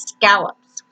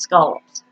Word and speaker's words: scallops: I grew up with it as scallops, the way it's spelled, but no, here it's scallops.